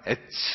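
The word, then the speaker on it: עץ: 나무라는 단어가 히브리어 발음으로 에츠 이렇게 츠로 끝나요.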